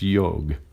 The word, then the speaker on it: yoga: that's it's the way of yoga or more correctly pronounced yoga and that is another